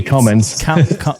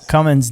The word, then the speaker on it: Cummins: dodge ram coming coming how do you say that there's no g on it there's no g no g cummins cummins diesel um and what